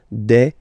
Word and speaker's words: des: the singular form and then you just add this S at the end and as we said you don't pronounce it so you get de okay de so un